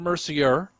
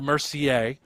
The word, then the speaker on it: Mercier: It's Jason Mercier and Isabelle Mercier. Spellings are the same, although you do say the names differently.